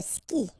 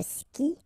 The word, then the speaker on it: skie: And then, je skie. Okay, exactly the same thing. Je skie. Okay, you get this I, and after that you get the vowel but then you don't pronounce it.